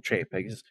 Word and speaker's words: Chapek: Or Bob Chapek.